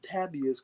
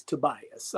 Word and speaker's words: Tobias: I keep wanting to pronounce it Tabias because it's an A, and I'm used to it being an O, but it's Tobias.